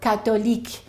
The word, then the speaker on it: Catholic: So it might sound like catholic or catholic or catholico but the O is always pronounced in those languages. In English the O disappears and it's only two syllables and it sounds like this.